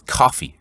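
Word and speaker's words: Ko-fi: pat mccone mentioned this i think it's coffee it's pronounced k-o-f-i it's an alternative to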